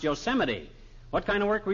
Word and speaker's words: Yosemite: No, not Yosemite, old-timer. That's pronounced Yosemite.